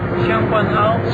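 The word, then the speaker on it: Tseung Kwan O: How do you pronounce Sheng Quan O? Sheng Quan O.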